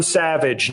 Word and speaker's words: Savidge: Martin Savage, number one, by the way. And because he doesn't even spell it savage, it's Savidge.